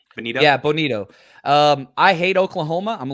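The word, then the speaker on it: Bonitto: How do you pronounce his name? Bonito? Yeah, Bonito.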